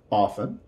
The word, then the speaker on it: often: Now, most often, usually this T is not going to be pronounced.